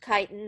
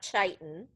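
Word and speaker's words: chitin: And then kiten. Yes, it's pronounced kitan, not chitan.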